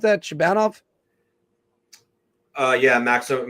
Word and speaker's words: Shabanov: How do I pronounce that? Shabanov? Yeah, Maxim Shabanov.